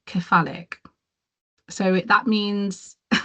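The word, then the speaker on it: cephalic: I think I quite like khalic. So that means Yeah. Can you spell that for me, Kersh?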